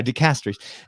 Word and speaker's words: dicasteries: Yeah, you don't want to put the emphasis on the first syllable in English, but anyway, dicasteries.